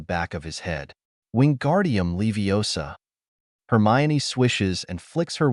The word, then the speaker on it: Leviosa: someone's eye out besides you're saying it wrong it's levos not Leviosa you do it then